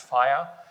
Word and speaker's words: FIR: They are going to generate some NLIR dialect called FIR, sometimes pronounced fire, which allows them to